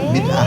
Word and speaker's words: Bidaah: Bidah. Iya, bidannya bidah. Bidah ya bacanya bidah.